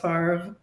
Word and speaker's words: Favre: spelled like Favre, but it's pronounced Favre.